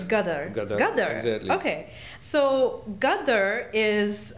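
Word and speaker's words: Ghadar: Gadar? Gadar. Gadar, exactly.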